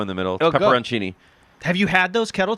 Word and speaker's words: pepperoncini: No, there's no Cini. It's Chini. Say it. Say it. Pepper, but there's a O in the middle. Oh, go. Pepperoncini.